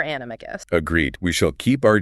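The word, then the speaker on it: Animagus: So, for the record, for this deep dive, we are sticking with a hard G for animicus.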